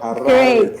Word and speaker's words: Harare: And you mentioned that you're calling from Harare, Zimbabwe. Did I pronounce that correct? You did it very well. Harare, Zimbabwe.